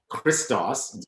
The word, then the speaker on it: christos: not an english word either we're just badly pronouncing our greek because the greek word is christos the word christ from it so there's nothing